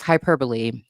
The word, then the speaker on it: hyperbole: commonly referred to as hyperbole can is is also hyperbol. It's just a pronunciation difference.